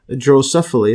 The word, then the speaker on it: Drosophila: Left is an adult drosophila. Let's see the pronunciation.